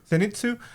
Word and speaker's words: Zenitsu: And so I feel like it was kind of the same with Zeninsu. How am I saying it right? Yep. Zenitu. Zenitsu, right?